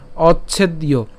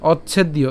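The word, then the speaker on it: অচ্ছেদ্যো: করব কিভাবে অচ্ছেদীয় হ্যাঁ এখানে আমরা অচ অর্থাৎ চকে উচ্চারণ করছি অচ এরপর কি হবে ছেদ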